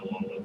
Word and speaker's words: Alola: It's like Aloha, but it's Alola.